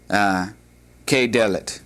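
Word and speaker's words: כדלת: And since we're not pronouncing the dalit any differently from with a dagesh or without, it's not like to a house above in the above example, but rather it's one that is going to be pronounced virtually the same, but you're not going to have the dagesh.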